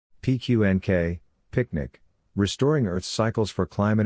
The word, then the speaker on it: PQNK: We present PQNK, pronounced Picnic, the regenerative Pristine Organic Farming System.